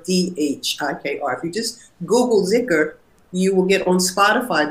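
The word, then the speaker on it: dhikr: And the zikr is a formulaic kind of, can be very simple, can be very, very elaborate and very beautiful.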